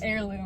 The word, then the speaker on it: heirloom: It's heirloom. Oh. It's spelled with an H, but you don't pronounce the H.